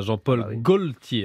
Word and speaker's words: Jean-Paul Gaultier: Il va nous manquer, en tout cas, Jean-Paul Gaultier. Hein, je le prononce bien, c'est bon, je maîtrise.